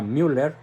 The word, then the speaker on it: Müller: alemán cardenal Gerard Müller se escribe mu doble R con diéresis en la u por eso se pronuncia Müller dice que Benedicto 16